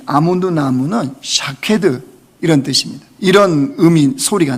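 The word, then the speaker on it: שָׁקֵד: 예, 히브리어로요 살구나무라고 하는 이 아몬드 나무는 샤케드 이런 뜻입니다. 이런 의미 소리가 나요. 그런데 이 지킨다라고는 히브리 단어는요 쇼케드 이런 뜻이에요. 샤케드, 쇼케드. 그러니까 이게 발음이 비슷한 거죠.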